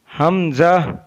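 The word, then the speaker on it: ء: हमजा हमजा हमजा। Number 35 में हमजा हमजा Hulk के नीचे वाले हिस्से से अदा होता है। हमजा is pronounced from the bottom part of the throat.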